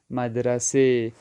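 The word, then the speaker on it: مدرسه: گے جمعے۔ اسی طرح مدرسہ اردو میں پڑھا جاتا ہے لیکن فارسی تلفظ میں مدرسے، تو اس کو ہم پڑھیں گے مدرسے، مدرسے یعنی اسکول۔ خوب،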